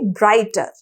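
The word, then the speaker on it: bright: ठीक है, ब्राइट के अंदर जी और एच की तो साउंड नहीं आ रही है ना, तो जी और एच इसके अंदर साइलेंट हो जाएंगे और इसके अंदर भी जी और एच ही साइलेंट होंगे।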